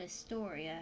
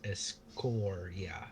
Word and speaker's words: Escoria: Uh, don't reckon you've heard of a place called Astoria, have you? I'm going to correct you on that. It is Escoria. Escoria. EST. Oh, ESC, not EST.